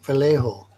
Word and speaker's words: Vallejo: So that's how you say it, Vallejo. That's how I say it. I don't know about anyone else. I think it's supposed to be Vallejo.